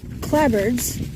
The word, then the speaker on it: clapboard: the uh clabards this it's spelled clapboard but pronounced clabard um is the wooden